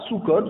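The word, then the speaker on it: סוכות: On prononce soukot au pluriel, mais elle est écrite comme au singulier, comme si c'était écrit au singulier, sans vav.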